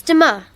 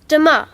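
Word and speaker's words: demain: tomorrow in french um it's dima sorry can you say that again please yes it's de ma how do you spell that d e m a i n great thanks jasmine unit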